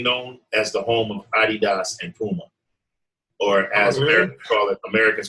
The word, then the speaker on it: Adidas: And it's famously known as the home of Adidas and Puma. Or as Americans call it Adidas, but the proper pronunciation is Adidas.